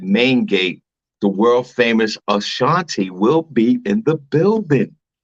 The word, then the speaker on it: Ashanti: How you pronounce her name again, Sing? Ashanti.